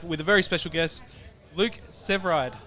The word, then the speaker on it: Luke Severeid: We are here at Knotfest 2025 with a very special guest, Luke Severeid. Yeah, you said it right.